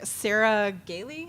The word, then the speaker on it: Sarah Gailey: And there was someone, I want to say it was maybe Sarah Gailey. Is that how you pronounce her name? Yeah.